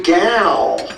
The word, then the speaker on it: Gal: I'm your boy Gal. Rhymes with pal.